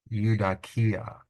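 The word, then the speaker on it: εὐδοκία: u, da, ki, a, eudakia, eudakia. So this is a good example where the vowel team that begins a word, if it's more than one syllable, will be its own syllable.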